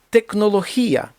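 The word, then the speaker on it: tecnología: поіспанськи мусика немає звука з текнолохія оце читається як х в даному випадку текнолохія технологія слово інженер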